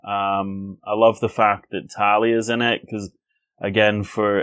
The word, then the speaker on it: Talia: I love the fact that Talia's in it, because, again, for anyone who doesn't